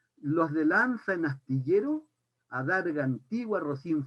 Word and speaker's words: lanza: Y dice que este hidalgo era de los de lanza, voy a pronunciar la Z como la pronuncian los españoles porque me gusta, los de lanza en astillero, adarga antigua, rocín flaco y galgo corredor.